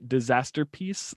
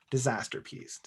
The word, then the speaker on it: Disasterpeace: by the disaster by disaster peace like uh masterpiece like masterpiece but with disaster peace yes and peace is spelled like peace on earth peace it's a little ah